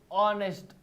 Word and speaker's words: honest: Here h is silent and the word the first word we pronounce is o. honest.